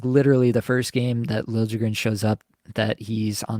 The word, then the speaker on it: Liljegren: Like, they pronounced it Liljegren in Toronto for years. Obviously, he was drafted by the Leafs, so he's only been there. And now it's Lil Jigrin that he's asking, like, it's the player asking